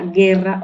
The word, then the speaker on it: guerra: g o gui ante la e i que se decía guerra o guitarra y no se pronuncia la u sin embargo ante eh